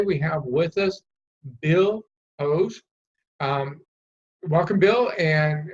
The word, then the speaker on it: Poje: I am told that the original pronunciation is Poje, which means song, but I'm not a Croat by nature. I'm an American, so really can't prove that. So you actually pronounce it as Poje? Correct. That is the pronunciation.